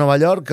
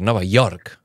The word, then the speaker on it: Nova York: És Nova York. Nova York. No, York no. No cal que diguis ella. La Y no es pronuncia.